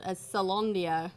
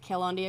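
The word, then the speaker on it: Caelondia: So the premise is that this world, Salondia, or that's how you pronounce it, right? Salondia. Salondia. Yeah. I always want to pronounce it Calondia because it got Yeah. a C on it.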